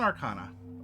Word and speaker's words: Arcana: Just in Arcana. That's fine. Roll an Arcana, or an Arcana if you prefer, if that's your pronunciation. That is the correct pronunciation.